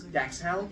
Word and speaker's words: dachshund: He sees little, yes, dachshund, they're pronounced dachshund. You know, the English way.